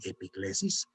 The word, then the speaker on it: epíclesis: hay que hacer una epíclesis. ¡Ay, qué palabra tan rara! Es una palabra griega muy hermosa, algunos la pronuncian epiclesis, que significa invocación.